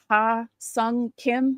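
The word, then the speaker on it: Ha-seong Kim: Ha Sung Kim, is that how you say his name?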